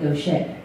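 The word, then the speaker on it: Gauthier: It's spelled G-A-U-I-T-H-E-R from Kentucky. That doesn't sound like Gaucher.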